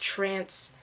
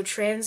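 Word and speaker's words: Tranz: to put on trans I know it's pronounced trance okay but trans is how it's spelled so trans is how I say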